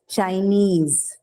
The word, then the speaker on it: Chinese: If you find these suffixes in the word, then the stress is on the suffix itself. So example, trainee, like the one that we discussed, Japanese, Chinese, right?